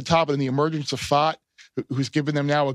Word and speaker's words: Pfaadt: Kelly at the top, and the emergence of Fott, who's given them now a good number. So that's how you pronounce his last name. Yeah, Brandon Pfaadt.